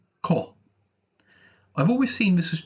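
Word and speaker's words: こ: of the ground k for Kevin Co is pronounced Co I've always seen this as two little worms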